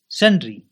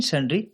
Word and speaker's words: sundry: सनरी सनरी इसे सनरी या सनराई दोनों ही प्रोनाउंस किया जाता है। लेकिन संड्री ज्यादा चलता है।